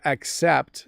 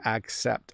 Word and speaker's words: accept: I have to accept that sometimes I'm too busy. So I'm saying a little more of an A sound. I have to accept.